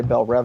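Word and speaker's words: Belle Reve: me watch Young Justice they say Bel rev all the time so I've been pronouncing that wrong my whole life until that didn't they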